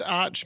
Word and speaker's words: Arch: such a heady joke oh it's pronounced arc yeah like the highest mission the Archangel that kind of thing that's